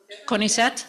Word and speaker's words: CONICET: Okay, now that the recording is in, Monica Sormuk is a senior researcher at, do you say CONICET?